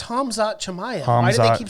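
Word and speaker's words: Khamzat: an estimate on when you'll start pronouncing hazmat's name right or at least get the order of the m and z right please it's never going to happen bro right i don't know yeah it's hamza maya why do they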